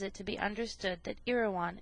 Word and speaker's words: Erewhon: to be understood that iroan is pronounced as a word of three syllables all short thus e rean preface to the second